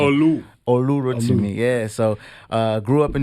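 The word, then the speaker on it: Olurotimi: It's Olu Rotimi. That's the proper pronunciation. Olu Rotimi.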